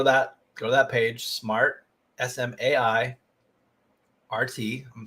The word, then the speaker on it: smAIrt: how I pronounce it it's just like the word smart it's not smart unless